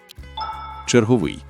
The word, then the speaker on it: черговий: Вона пояснює, як змінюються слова, у якому складі правильно наголошувати це слово. Черговий. Наголос завжди падає на останній склад згідно з чинними нормами.